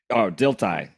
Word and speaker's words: Dilthey: Dilthey.